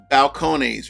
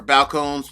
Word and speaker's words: Balcones: Balconies or balconeses, whichever way you want to pronounce it. Balcone.